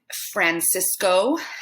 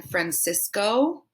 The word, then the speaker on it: Francisco: heard it and said francisco like the city san francisco but we are pronouncing it francisco with that shorter o here we have a